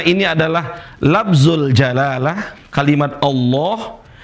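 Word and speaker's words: الله: Kemudian berikutnya, karena ini adalah lafzul jalalah kalimat Allah. Kalau sebelumnya berharakat fathah dibaca tebal, Allah. Kalau sebelumnya harakat kasrah bismillah. Enggak boleh bilang bismillah.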